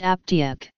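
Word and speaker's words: אַפּטייק: In Yiddish the word is pronounced aptiek.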